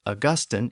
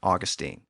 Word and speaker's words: Augustine: First, Augustine is typically pronounced Augustine in Britain, but I'm going to use the other pronunciation, Augustine.